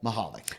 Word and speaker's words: Michalik: one and only Michalik. Ooh, look at you pronouncing my last name right. Get rid of that C. I love it. Yeah, the C's silent.